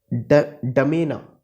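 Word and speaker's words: N'Djamena: ये है डमेना, डमेना, जे साइलेंट रहेगा, डमेना। क्या कैपिटल है चैड की?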